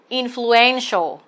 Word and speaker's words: influential: A, influential. Trọng âm rơi vào trước đuôi AL.